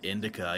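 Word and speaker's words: Indika: Yeah, Indica.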